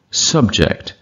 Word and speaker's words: subject: முதல் சிலபில் இப்போ உச்சரிக்கிறது வந்து என்றைக்கும் நவுனு, ரெண்டாவது சிலபில் உச்சரிக்கிறது verb. Conduct, conduct. Object, object. Subject, subject.